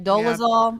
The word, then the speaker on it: Dolezal: It's none other than Rachel Dolezal. Am I pronouncing that right? Dolezal?